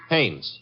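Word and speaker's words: Haines: Hannes. H A I N E S. Oh. Oh, Hannes. Yeah. Do you know him? Well, there's a fellow named Hines used to fish. No, no, no, not Hines.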